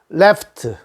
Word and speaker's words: left: have 오른쪽 라이트 라이트 레프트 왼쪽 레프트요 r자와 l자 발음 주의한 거 공부했죠 right는 혀를 말아서 혀를 말아서 우리 얘기를 하십시오 입천장에 닿지 말고 근데 l자는 입천장에다가 혀를 닿으십시오 그래서 앞에다가 얼자를 넣으라